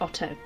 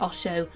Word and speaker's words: Otho: And yes, it is written as Otho in the text, but I listened to a little bit of the audiobook, and if the narrator pronounces it Otto, I'm going to say Otto, because I assumed that was how it was supposed to be said.